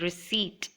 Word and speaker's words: receipt: and in the word receipt the letter P is silent hence it's pronounced as receipt then while writing truly